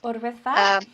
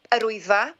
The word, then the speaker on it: Yr Wyddfa: Urwyddfa? Yr Wyddfa. Yeah, I noticed that, like, I've been told to pronounce it Urwyddfa as a W in there,